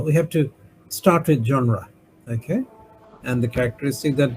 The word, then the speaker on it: genre: French word meaning kinder group pronounce a genre. Genre French pronunciation genre category can be musical genres the litary genres there film genres there artistic genres.